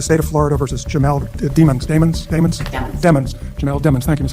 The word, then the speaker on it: Demons: I'll never forget in the first trial, suddenly there was a switch where, no, his name is pronounced Demons.